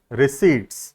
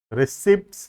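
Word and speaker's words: receipt: number 15 heading is रिसी pronounce नहीं होता हां रिसीप्ट नहीं होता है रिसी होता है ठीक है the word P E silent year written as रिसीप्ट pronounced S रिसीप्ट ठीक है प साइलेंट है यहां प हमेशा चाहता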